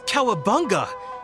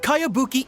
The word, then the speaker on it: Kayabuki: strange name who's this Cowabunga it's pronounced kayabuki Ike that would be me